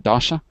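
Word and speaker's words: дача: Dacha?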